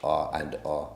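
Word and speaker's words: R v R: It's spelled R-V-R, but it's pronounced R and R.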